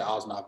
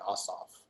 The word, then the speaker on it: Ossoff: I said Osnoff, meant Ossoff. Get his name wrong.